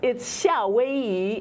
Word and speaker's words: 夏威夷: It says it's 夏威夷 in Mandarin because originally it was Hawaii in Cantonese, which sounds a lot more like Hawaii.